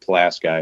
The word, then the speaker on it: Pulaski: regional I'm sure yeah I think it's supposed to be pronounced Pulaski I think that's what people outside of it call it but everyone that lived there called it class guy it's probably wrong but that's just how we rolled there so hey there's